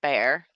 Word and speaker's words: Bexar: a town Bexar but it's pronounced bear it's spelled Bexar I should say some